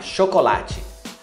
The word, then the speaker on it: chocolat: Chocolate. Chocolat. Chocolat, você não pronuncia a letra T.